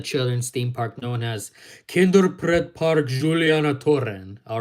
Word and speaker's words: Kinderpretpark Julianatoren: They're the two cute and adorable mice mascots of the children's theme park known as Kinderpretpark Julianatoren. All right, that's the correct pronunciation.